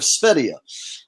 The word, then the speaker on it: Sv3rige: Sv3rige. That's fine. Oh, shit. I said it wrong again. Sv3rige. I need to think of it like a country, the country of Sv3rige.